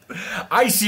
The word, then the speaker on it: ICEY: well first of all stop getting the name wrong it's icy mate it's icy like with your eyes yeah oh God not I see is in cold can